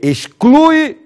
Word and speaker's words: exclui: Muitas vezes nós falamos exclui. Nós não percebemos se é um E ou se é um I. Ou inclui, e é inclui. Então, resposta letra B. Exclui e inclui.